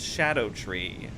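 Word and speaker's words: Scadutree: sco tree oh yeah people were like It's pronounced Shadow tree I'm like how the hell am I supposed to know that scad tree it is a malevolent snake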